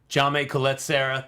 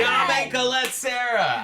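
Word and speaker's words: Jaume Collet-Serra: Jaume Colette Serra. There, I said it. Yeah, you did. Jaume Colette Serra.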